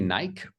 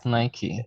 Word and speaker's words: Nike: lot of people say Nike but uh lucky say Nike yeah Nike yeah great it's like usually we never pronounce e on the end but in this word we should pronounce it doesn't make sense because